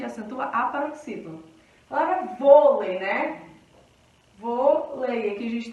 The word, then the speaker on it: vôlei: E aqui a gente tem uma paroxítona que é vôlei, né? A sílaba tônica é um vô.